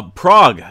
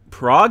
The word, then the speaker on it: Prague: it looks like uh Prague is that right p r o pronounced Prague is that right I thought it was prag Prague Prague okay maybe that's